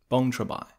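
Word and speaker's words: Boeng Trabek: from the independence monument bong trabai well that was how the helpful taxi driver at the airport pronounced it after being puzzled for a few minutes at my attempts of reading it in english from google maps boeing trebek in any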